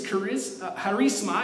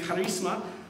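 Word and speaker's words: χάρισμα: The word in the Greek is charisma, is how you say it in the Greek, charisma, which is a gift given graciously and generously.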